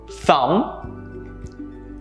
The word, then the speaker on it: thumb: Let's look at a few more examples where the B sound is silent. Doubt, debt, climb, thumb, numb. Notice how the B sound was never a part of the pronunciations for any of these words. You never pronounce these words with the B in it.